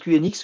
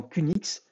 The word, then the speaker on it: QNX: mal c'est qnx alors moi je prononce qnx vous pouvez également qu'une x donc c'est un système d'exploitation